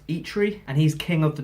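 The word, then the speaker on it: Eitri: talk of him playing I think it's pronounced eat read and he's king of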